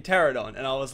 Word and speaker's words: Pteranodon: to ignore it but the p is silent in Pteranodon and I was like